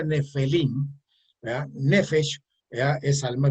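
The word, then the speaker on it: Nefilim: Bien, estos gigantes que en la Torah se pronuncia Nefelim, ¿verdad?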